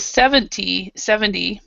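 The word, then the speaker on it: seventy: So you have, with 70, the stress is in the front. 70. But with 17, the stress is here.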